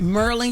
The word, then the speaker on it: Maryland: When we come back, we have the governor of Maryland. Did I say that right? Merlin, you said it right.